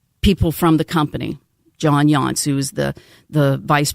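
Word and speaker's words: Yonce: I- it's Y O N C E, but I think it's still pronounced Yancey, not like the Yanceys that are here in Charleston.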